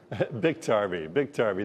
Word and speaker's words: Biktarvy: Is it Biktarvy, or how do you say that? Biktarvy.